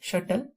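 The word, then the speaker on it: subtle: Next है हमारा, इसकी प्रोनाउंसिएशन शटल है, यहाँ पे बी साइलेंट है, शटल।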